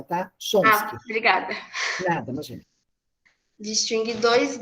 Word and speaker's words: Chomsky: Chomsky é a pronúncia, tá? Chomsky.